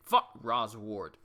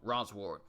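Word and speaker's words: Rosward: Rose ward ra's award I said it wrong Roz ward father what have they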